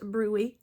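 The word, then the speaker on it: bruit: So, that's pronounced brewy.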